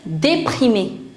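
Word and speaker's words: déprimée: For that you'll say déprimé. Déprimé. Féminin, déprimé avec E. We write E but we don't pronounce it. The pronunciation is same.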